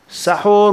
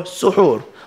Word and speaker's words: سحور: And there's 2 ways of pronouncing the word as we explained. Sahur with a fatha, vowel sound, or suhoor with a dhamma vowel sound.